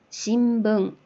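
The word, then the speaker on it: しんぶん: 그리고 뒤에 마나 뭐 비읍, 붕, 바, 뭐 이런 식으로 미음이나 비음은 우리가 발음을 해보면은 입술이 이렇게 붙었다가 떨어지잖아요. 그 발음을 편리하게 하기 위해서는 자연스럽게 그 앞에 발음이 미음 받침이 오게 되거든요. 그래서 암마, 신붕 이런 식으로 발음이 되는데 일단 우리가 그 알파벳에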